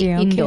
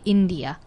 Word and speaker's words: India: Indo-Canadian、 yeah、 Indo-Canadian、 Japanese Canadian、 Chinese Canadian、 no、 Indo-Canadian、 But we don't say Indo、 okay、 We say India、 India、 the country、 Romania、 I don't know、